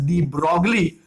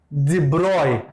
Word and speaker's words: de Broglie: The last part is Louis Victor डी ब्रॉय, दो इट is written as डी ब्रॉगली. Many people tend to pronounce it एज डी ब्रॉगली, बट एज ही was French, it इज not pronounce the same way एज इट is written. So ही is actually Louis Victor डी ब्रॉय. इट्स ब्रॉय, नॉट ब्रॉगली, though I love broccoli, no doubt.